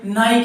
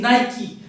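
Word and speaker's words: Nike: हम नाइक का जूता पहनते हैं, अरे मैंने नाइक का जूता पहन लिया, नाइक नहीं होता, नाइकी होता है, नाइकी, नाइकी, नाइकी, की, नाइकी।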